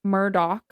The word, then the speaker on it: Murdaugh: is not the way it's supposed to be pronounced. Correct. They do say Murdoch though.